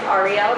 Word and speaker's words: Arielle: My name is Arielle. It's pronounced like the letters, R-E-L.